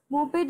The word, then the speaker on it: moped: Moped is pronounced with 2 syllables as I'm speaking it, moped, and it is a combination of the Swedish words motor and peddler.